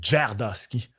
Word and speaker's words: Tverdovsky: Je me sais même pas comment on prononce ce nom de ce gars-là. Ça, c'est Tverdovsky.